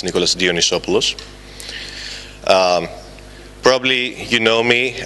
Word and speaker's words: Dionysopoulos: timman two years to be somewhat close to pronouncing my name it's Nicholas dionisos um probably you know me as uh the